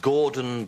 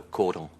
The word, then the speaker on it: cordon: And your Gordon Bleu. Shouldn't that be cordon? Pardon? No, cordon. That's French.